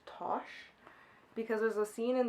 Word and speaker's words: Tash: she okay so apparently her name is not pronounced tash it's pronounced tosh because there's a scene